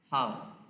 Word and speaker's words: half: Half menjadi half. AL diikuti F juga memicu pengucapan A panjang.